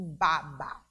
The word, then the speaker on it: baba: da boca da criança Observe aqui a escrita da palavra é a mesma mas a pronúncia o que a pronúncia diferente por conta do assento ahh mudo e existe na última sílaba da palavra Babá e o baba Olha a diferença então o acento agudo dá uma tonicidade diferente da palavra baba